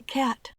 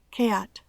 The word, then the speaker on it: cat: El sonido EA es bastante parecido y es un buen punto de partida, pero no es la pronunciación exacta. Escucha la diferencia en la pronunciación de cat. Cat.